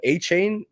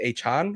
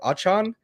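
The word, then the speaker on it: Achane: ball that is Devon I almost would have called him a chain until I hear an announcer say a Chan or achan I'm still not sure how to say it correctly I know I think is it a Chan yes I think he I think he said it yeah issues uh Sean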